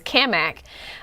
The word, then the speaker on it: Cammack: I have to say Cammack I want to say it intentionally because we've met we they finally how to pronounce his name and he says it as kamak um that Paxton asked